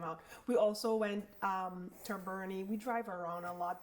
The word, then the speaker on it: Boerne: We also went to Boerne. We drive around a lot, but Boerne, Texas, and I'm pretty sure I'm pronouncing it. Boerne. Even though it's not spelled like that.